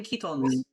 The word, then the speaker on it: chiton: Oh, in Ketons. Yeah, that. Can you spell that for me?